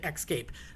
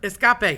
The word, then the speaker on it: escape: It's like people who say excape. That's not a word. Escapee, hello, escape. It is not excape. X Games have nothing to do with it.